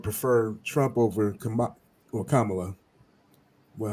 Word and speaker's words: Kamala: did on the DNC it's just like the word comma that little thing that's you know that little punctuation thing it's a comma and a l so Kamala that's how you pronounce